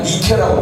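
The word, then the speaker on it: Nike: 나이키 아시죠? 모르시는 분 없을 거예요. 나이키의 상징인데 헬라 말로 나이키를 뭐라고 부르냐면 니케라고 부르는 거예요. 니케라고 하는 말을 미국식 발음으로 하면 이게 나이키가 된 겁니다.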